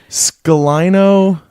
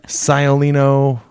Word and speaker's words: Sciolino: Speaking of Dan Sciolino, remember at the karaoke wedding how every time Dan requested a song, you purposely pronounced his last name wrong? Yes. Dan Scalino, Scoliano, Scoliosis. Sciolino.